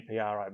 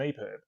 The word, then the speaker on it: EPUB: I need to specify no one calls it an eprib it's an Epub so you need to